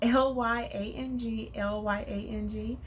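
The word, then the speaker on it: ylang-ylang: I'll call it ylang ylang. It's Lyang, Lyang.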